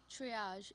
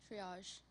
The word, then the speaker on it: triage: Triage. Is that correct? Yes, it is. Triage.